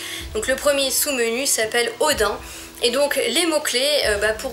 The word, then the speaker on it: Odin: Et du coup le premier, alors moi je le prononce à la française, hein, je vous le dis tout de suite. Donc le premier sous-menu s'appelle Odin.